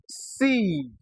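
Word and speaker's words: sieve: But in a word like C, the I E is actually short.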